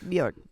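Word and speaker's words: Björk: reference point to is bork so bork is that no you said it right I just Bor bork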